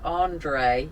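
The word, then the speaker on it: André: wrong because it's french it's andre andre it's french i'm jacking across the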